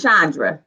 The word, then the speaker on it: Chandra: Is it Chandra or Chandra? It's Chandra. Chandra? Yeah, Chandra. Okay, I'll be putting that CH, that ch. Everybody want to do it, but it's Chandra.